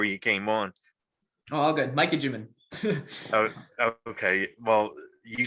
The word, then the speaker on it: Micah Juman: on because I I I think I I butchered your name when I was introducing you before you came on oh good Mikey jimin oh okay well you said it right I